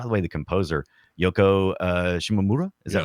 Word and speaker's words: Shimomura: By the way, the composer Yoko Shimomura, is that right? That's Shimomura, correct.